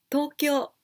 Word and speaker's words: 東京: Tokyo. Tokyo. The capital in Japan. To, the long sound, and kyo, also long sound with u. 私は東京から来ました。I'm from Tokyo.